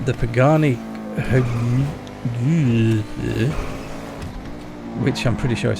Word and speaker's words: Pagani: It's based on the Pagani, which I'm pretty sure is how you pronounce it.